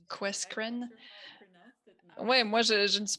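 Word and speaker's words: QUESCREN: On le prononce Questcreen.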